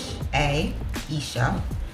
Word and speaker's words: iisha: So the name is iisha. It's spelled I-I-S-H-A, Isha, and then May, M-A-E.